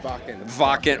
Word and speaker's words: Wacken: It's called Welcome To Wacken? Wacken. Oh, I have to pronounce it correctly.